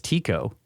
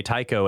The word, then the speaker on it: Tycho: Because Randall is the one that says Tico. And I used to say Tycho, and then on Cosmographia, he was like, I think it's Tico.